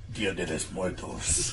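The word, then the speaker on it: Día de los Muertos: If it's Spanish, you have to say it like Danny Trejo.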